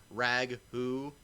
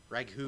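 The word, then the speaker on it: Raghu: Yes, it's not spelled like the spaghetti sauce. There's an H in there, so it's like Rag-hoo S. So if I were to say it really fast, it would sound Rag-hus. Rag-hoo.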